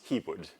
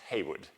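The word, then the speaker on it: Heawood: Percy Haywood right now this is H EA and he's not pronounced hwood he's Heywood right so Haywood in 19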